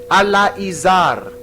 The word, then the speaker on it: Eleazar: Eleazar is Alaizar.